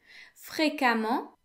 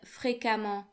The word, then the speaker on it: fréquemment: The T in fréquemment is silent.